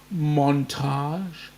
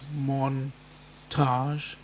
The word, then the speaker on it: montage: I might do a montage. How's that? How's that for this time of night, or for you guys this time of morning? Montage. It actually has 2 syllables. Montage.